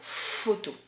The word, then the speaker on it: photo: F cette fois, puisque quand le P donne la main au H, il chante F. Et là nous avons le mot photo.